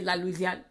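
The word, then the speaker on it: La Louisiane: my little sister cheryl this here is la louisian like louisiana um which means louisiana like but they phonetically say la luzian all right then we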